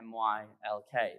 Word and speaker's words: Nylk: the office was like no you say my lk that's how you say it so if you